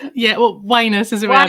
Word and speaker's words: Wyness: I just realized I never checked you the pronunciation of your surname have I got that right yeah well wus is wi W yeah oh that's very apt